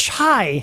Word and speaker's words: chai: It's chai. Chai tea, not chi-chi latte.